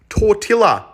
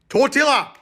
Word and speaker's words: tortilla: pancakes get bitches bro can't even pronounce tortillas because there's two elves genius tortilla tortilla okay that one